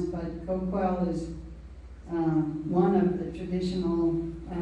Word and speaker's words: Coquille: real word was, and it may have been something like Coquille, and very difficult for English speakers to pronounce, but Coquille is one of the